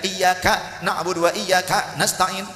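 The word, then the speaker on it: إِيَّاكَ نَعْبُدُ وَإِيَّاكَ نَسْتَعِينُ: Nggak ada dari 7 qiraat yang bacanya iyyaka na'budu wa iyyaka nasta'in, nggak ada. Jadi kafnya dihentak seperti ada hamzah sukun, nggak ada. Jangan begitu. Kemudian tasydidnya huruf iya, iyyaka na'budu wa iyyaka nasta'in, harus jelas tasydidnya.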